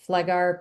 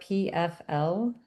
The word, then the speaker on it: Pfleghaar: And then if you want to look up my last name, it's Pfleghaar, Pfleghaar.